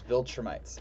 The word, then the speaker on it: Viltrumites: So, Nolan, as his birth name, is from a planet with a species known as Viltrumites.